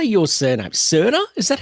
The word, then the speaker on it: Serna: Serna. Is that how I pronounce? Yeah. So in in English but in Spanish because I'm South American, it's Seda.